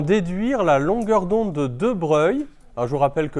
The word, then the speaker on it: De Broglie: En considérant la dualité onde-corpuscule, en déduire la longueur d'onde de De Broglie. Alors, je vous rappelle que De Broglie, hein, ça s'écrit De Broglie, mais ça se prononce De Broglie.